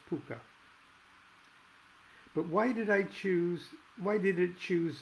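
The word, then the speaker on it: Pocuh: Paku? No. Poke-ha? Or poke-ah? No. Pook-ah? Yes. Finally, I said, really? Pronounced P Puka, like Harvey, the invisible 6-foot rabbit in the movie?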